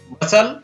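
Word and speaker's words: bustle: शब्द के बाद अंत में STLE या STEN हो तो टी साइलेंट रहता है। इन शब्दों को यहां पर पढ़ेंगे, हसल, बसल, आप भी मेरे साथ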